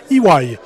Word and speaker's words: EY: qui est nnc et qui maintenant se prononce IW ça c'est une histoire